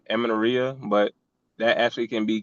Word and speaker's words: amenorrhea: Irregular periods or amenorrhea. I say it wrong, but actually had a client that dealt with that, and I was able to fix that. I'm pretty sure I'm saying it wrong, amenorrhea, but that actually can be cured by proper